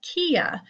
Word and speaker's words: Quia: And today I'm going to be doing a little tutorial for you on a website called Quia, pronounced like Maria.